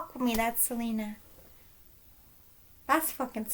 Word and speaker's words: Selena: really that that's a selena's song selena i say salinas because that's what the people from her home actually call her and we're all saying it wrong because we're ignorant americans and i'm not ignorant